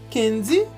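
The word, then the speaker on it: Kendy: Kenji se pronuncia assim, se soletra assim.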